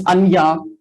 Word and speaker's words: Anja: uh yeah hi uh the german pronunciation is anja would have said it